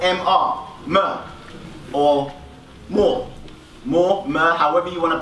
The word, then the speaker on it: mr: So, the glyph for pyramid, phonetically, how you pronounce it was mer or more.